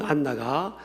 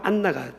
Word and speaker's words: 안나: 있는 그런들도 많이 있죠 사실은 안나는 사실은 히브리 는 한나입니다 한나 히브리 한나가 헬라적 발음으로 안나가 된 거죠 그러니까이 안나라 여인도 63년